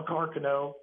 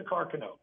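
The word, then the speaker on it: Carcano: in fact a well a car Cano which is the right way to say it by the way it is a carono it is not really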